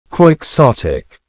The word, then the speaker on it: quixotic: Let's practice that pronunciation. Quixotic. Now everyone altogether quixsotic.